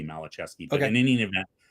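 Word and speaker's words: Maliszewski: It looks like Malazewski, but I think technically it would be Malachevsky.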